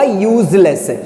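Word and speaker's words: useless: जैसे यूजलेस, अब यूजलेस आप पढ़ के देखो, हालांकि पहला लेटर आपका मालूम है क्या लिखा हुआ है? इसमें यू लिखा हुआ है जो कि एक वॉबल है, मगर जब हम इस शब्द का उच्चारण करेंगे तो ये आपका या से शुरू होगा, यूजलेस।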